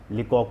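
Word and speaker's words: Leacock: लिकॉक को लेकॉक भी बोलते हैं, लिकॉक भी बोलते हैं।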